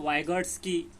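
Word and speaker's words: Vygotsky: Was coined by लेव वाइगॉट्स्की। वाइगॉट्स्की इसका pronunciation इस तरह करना है। और ये पियाजे नहीं है, गार्डनर नहीं है, थर्स्टोन नहीं है। तो वाइगॉट्स्की, इसे आपको याद रखना है।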